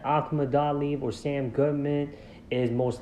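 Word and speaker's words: Akhmadaliev: And Akhmadaliv is how I properly pronounce this man's name. And as I said, Akhmadaliv or Sam Goodman is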